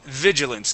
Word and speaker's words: vigilance: And vigilance. Give me a good v sound.